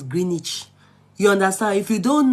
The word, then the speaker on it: Greenwich: When I got to London, when they showed me Woolwich, I used to say Woolwich. Now later they correct me saying now Woolwich, not because Greenwich. Now later they told me it's Greenwich.